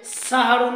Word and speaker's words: সাহরী: তিনি বলেছেন তাসাহারু তোমরা সাহারি খাও তাসাহারু তোমরা সাহারি খাও শব্দটা এখানে তাসাহারু সাহারির কথা উল্লেখ করা হয়েছে সাহারুন থেকে চলে এসেছে সাহারি এখানে সেহরি শব্দ নয় উচ্চারণ করতে হবে সাহারি সেহরি শব্দের অর্থ হচ্ছে